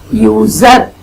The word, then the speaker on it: user: Example, a user. User sounds like user. User. You are pronouncing it like U-Y-O-O. You, like YouTube. Okay. So, that begins with a consonant Y sound.